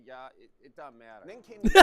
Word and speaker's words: ja: It's spelled ja but they say yah.